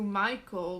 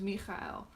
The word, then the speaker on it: Mikhail: may respond uh differently to um to michael because that's not because it's that's not his name his name is mikhail and if you cannot